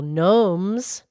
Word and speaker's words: gnome: Oh, and then then there's those the little gnomes. Oh, yeah. Spelled with a G. Gnome, but you don't pronounce a G.